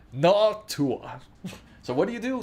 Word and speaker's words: Noctua: No, it's pronounced Noctua.